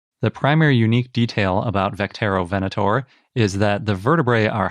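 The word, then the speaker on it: Vectaerovenator: me they wrote quote we imagine the name to be pronounced vecterovenator well that's nice it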